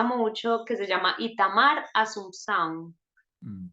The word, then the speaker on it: Assumpção: Escucho uno que me gusta mucho que se llama Itamar Assumpção. Mm. Se escribe, ponen Itamar, Assumpc, Sicilia, AO, Asunción, como de Asunción en Mm. portugués.